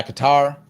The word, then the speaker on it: Qatar: proposed ceasefire after talks mediated by Qatar. Or Qatar, sorry, Qatar. I should pronounce it effectively so they're not mad at me.